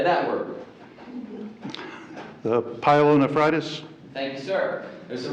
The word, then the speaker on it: pyelonephritis: The pyelonephritis?